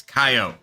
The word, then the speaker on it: coyote: actors that is how you say coyote it's coyote sake you pretending you're from